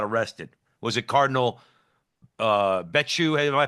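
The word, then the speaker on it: Becciu: who eventually got arrested was it Cardinal uh betu am I pronouncing his name correctly you you are pronouncing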